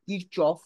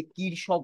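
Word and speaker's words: Kirchhoff: নাম ছিল গুস্তাফ রবার্ট কিরচফ অনেক সময় দেখবে এটাকে অনেকে কিরশবক বলেন অনেকে কারশ বলেন যেভাবে প্রথমে প্রোনাউন্স করেন কিন্তু একচুয়াল নেম হচ্ছে গুস্তাফ রবার্ট কিরচ তিনি দুটো রুল দিয়েছিলেন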